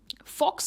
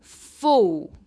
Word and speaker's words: faux: Next है फॉक्स, कहेंगे इसे। इसकी प्रोनाउंसिएशन है फो, फो।